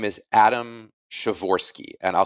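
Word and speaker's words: Przeworski: polish born political scientist whose name is adam chavorski and i'll spell his last name because it's not how it sounds uh it's p r z e w o o-r-s-k-i shavor it pronounced shivorsky because that's how languages roll um and chavorsky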